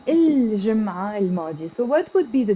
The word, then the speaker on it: الجمعة الماضية: But if I put L to جمعة, I'm not going to say الجمعة الماضية. No, it becomes, this T becomes silent and it becomes الجمعة الماضية.